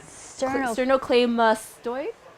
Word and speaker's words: sternocleidomastoid: sternum cladder mask forever sterno how do you pronounce that i love that word sternocleidomastoid wow i love that word so forever playa